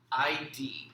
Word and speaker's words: id: ID, but it's pronounced id.